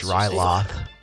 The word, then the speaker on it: Ryloth: Anyway, so your next mission, is on the planet, Ryloth. Am I saying that right? It's Ryloth. Yes. Yay! Ryloth. I said it right.